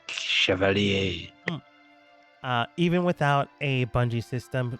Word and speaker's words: chevalier: It's like cavalier, but à la français, chevalier.